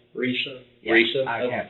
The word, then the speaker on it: Risa: I can't pronounce hers right. Your mom's name's what? Lisa with the R. Risa?